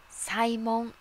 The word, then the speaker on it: 祭文: はさえもん祭りの分と書いてこれはサイモンと読みますサイモンは法と